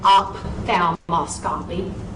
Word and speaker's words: ophthalmoscopy: say the word spelled O-P-H-T-H-A-L-M-O-S-C-O-P-Y? So let's work it out. Okay. P-H, what sound is that? That's right, that's an F sound. That's an F sound. So this word should be said ophthalmoscopy.